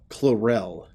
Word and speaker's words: Chlorel: I think it's Chlorel, not Clarel, but it just reminds me of it. Apophis' son in the first season of Stargate SQ1. It's Chlorel in the show.